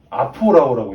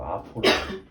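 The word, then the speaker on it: ἀφοράω: 뭐 이거 굳이 아포라오라고 읽어요. 헬라어로 아포라오.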